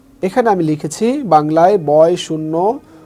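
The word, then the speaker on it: ش: এখানে আমি লিখেছি বাংলায় বয় শূন্য র, ঠিক এই রয়ের মতো উচ্চারণ হবে।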